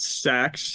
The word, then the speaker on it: Sachs: Sachs? Do you think that's how you say it? Sacks, yeah, Yeah.